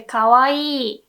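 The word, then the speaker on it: かわいい: dick Kawa eat but we don't really pronounce okawa eat we say kawaii right if there's only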